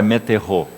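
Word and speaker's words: μετέχω: a palavra no original meterro. Ela escreve M-E-T-E-C-H-O, transliterado, é claro, né? do grego para o português, seria metechô, a pronúncia é meterro.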